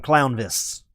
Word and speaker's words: Clownvis: Merry Christmas, Clownfish! I'm not Clownfish. I'm Clownvis.